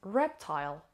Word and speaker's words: reptile: of today's lesson is reptile reptile reptile it has two syllables and the stresses on the first level reptile reptile is